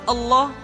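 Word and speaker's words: الله: di manapun kapanpun maka lam yang terdapat pada lafzul jalalah tersebut mesti ditebalkan Allah Rasulullah kecuali kalau lafaz Allah didahului oleh huruf yang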